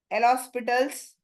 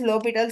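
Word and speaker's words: L'Hôpital: by lals limit by El hospitals usually people pronounce it like this but actually it is lital H just silent by lal's rule for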